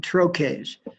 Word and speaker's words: troche: Here you're putting together something called medicated troches. TROCHE is pronounced troche.